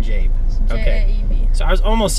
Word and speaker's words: Jaeb: And uh how do you say your last name? Jab. Jab.